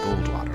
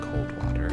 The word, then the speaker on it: Goldwater: It's Goldwater, not Coldwater.